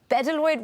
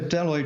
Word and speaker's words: bdelloid: this worm properly the bedaloid rotifer what makes it so hardy and so special it's a deloid rotifer so with asylum um and um these